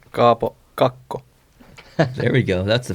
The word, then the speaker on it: Kaapo Kakko: I'm excited to see Capo Caco. Yeah. Or sorry, Mika, how do we say it? Kaapo Kakko.